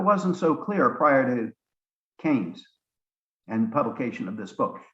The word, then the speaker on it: Keynes: of John Maynard Keynes, K-E-Y-N-E-S, looks like it should be pronounced Keynes, but it's actually pronounced Keynes.